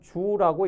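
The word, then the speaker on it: 足: 표현이 나오는데 이것은 우선 요것은 족자가 아니고 주라고 읽습니다 조기라고 읽으면 발족자도 되지만 풍족하다 족하다 할 때 그 족자가 되죠 넉넉하다 풍족하다 할 때 족하다 합니다 그런데 이제 그 조카 다가 조금 과하면 지나치면 주라고 읽습니다 주 그러니까 요건 족공이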